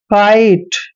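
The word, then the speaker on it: kite: example और देता हूं काइट देखिए काइट में क्या है लास्ट में ई आया है इसलिए हमने ई का उच्चारण नहीं करना है काइट पढ़ना है जैसे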